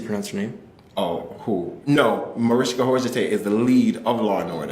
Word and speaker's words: Mariska Hargitay: for me Oh No Mariska Hargitay is the lead of Lord yeah something I never knew how to pronounce your name yeah Mariska Hargitay yeah that's how you pronounce it it was very complicated